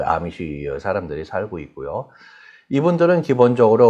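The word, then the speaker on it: Amish: 아미시는 우리 일부의 그 미국에서 생활하는 교포분들 보면은 언제 어느 기회에 이렇게 보게 되고서는 A로 표현되니까 에미시라고 그렇게 발음하는 사람들이 대부분인데요. 에미시가 아니라 아미시로 발음합니다. 영어식이 아니라 아미시.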